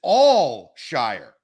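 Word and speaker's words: Al-Shaair: I have the pronunciation he's saying it's al-shair Austin how are you pronouncing his last name it's Al Shire well I will put out the phonetic spelling of what they said it I believe it is all Shire it is not Al because I've taken that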